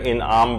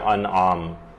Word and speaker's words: انعام: کہ لوگ اسے سورہ انعام پڑھتے ہیں، جبکہ یہ ہے سورہ انعام، یہ زیر کے ساتھ نہیں ہے بلکہ یہ زبر کے ساتھ ہے، تو اس کا صحیح تلفظ ہوگا سورہ انعام۔ اس کی جو کل